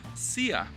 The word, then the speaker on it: szia: We have szia. It's spelled with an S and an Z, which makes the S sound. It's much different from sh, which is just a normal S.